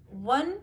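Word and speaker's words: one: ही has booked A वन way ticket. देखो वो तो स्वर में है, लेकिन यहाँ पे इसको वन यानी कि व से उच्चारण कर रहे हैं, इसलिए ए वन वे।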